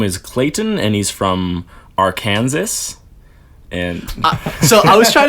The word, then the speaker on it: Arkansas: saying it wrong I just like that Arkansas and Kansas like they're so similar words felt the same right and yet they're pronounced completely differently so thank you English language I were setting me up for failure I've been to Arkansas